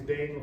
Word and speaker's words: Dane: to remember my name it's pronounced like the dog greed the Great Dane but I'm not a